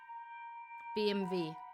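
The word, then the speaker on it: BMW: BMV V, not W. It's BMV, which is also German car brand, isn't it?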